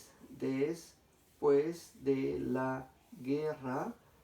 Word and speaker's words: guerra: Porque esta G en fonema se pronuncia G, G. Y esta E simplemente es el complemento. De tal manera que yo no digo guerra, sino simplemente digo guerra. No pronuncio la U, por tanto no hay diptongo.